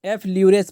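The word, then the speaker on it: effleurage: पीठ पर जो मालिश करने के लिए जो उपयुक्त तकनीक अपनाई जाती है, ठीक है, तो उसको एफ ल्यूरेज पढ़ा जाता है।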